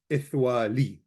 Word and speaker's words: ithwali: So everyone says ithwali. So the lemeth is always pronounced no matter what.